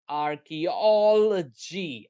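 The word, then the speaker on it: archaeology: इसका right pronunciation है आर की ऑल जी। ई जो स्क्वा है उसको ज्यादा साउंड नहीं करना है, ठीक है? आर की ऑल जो है हाईएस्ट एक्सेंट है, हाँ, आर्कियोलॉजी, आर्कियोलॉजी, आर्कियोलॉजी, आर्कियोलॉजी।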